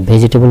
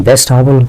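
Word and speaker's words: vegetable: ভেজিটেবল এটা খেয়াল করবেন আমরা ভেজিটেবল বলি এ উচ্চারণটা ঠিক নয় এটা হচ্ছে ভেজিটেবল ভেজিটেবল মানে হচ্ছে শাকসবজি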